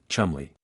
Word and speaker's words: Cholmondeley: Working alongside him was a young Flight Lieutenant named Charles Cholmondeley of MI5, pronounced, in a uniquely baffling fashion of the British upper classes, Chumley.